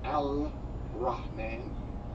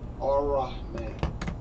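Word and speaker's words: الرحمن: You don't say Al Rahman, you see Al Rahman, because the Lamb followed by Allah is silent. But why is it beginning to be learning the early lessons? Learn the lessons. Ar-Rahman.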